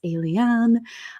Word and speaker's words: Eliane: It is like the word alien, but with a little bit more pizzazz. So it's Eliane.